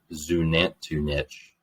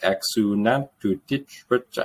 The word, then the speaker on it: Xunantunich: I think it's called Zunantunich, but it's spelled with an X.